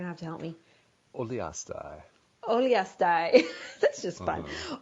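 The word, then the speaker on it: Uliastai: Oliastai. That's just fun. Oliastai, Mongolia, as a member of the U.S.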